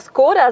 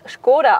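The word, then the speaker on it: Škoda: Tatsächlich haben 80% abgestimmt, die immer Skoda sagen. Richtig aber ist es Skoda aus dem Tschechischen, also richtig Skoda ausgesprochen.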